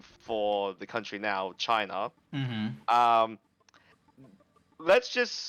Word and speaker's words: Qin: Some people say Qin because it's spelled Qin. Wait. And So it's Chin? yeah, it's pronounced Qin. Yeah, it's pronounced Chin. Well, in modern times, because they say the Q as a CH.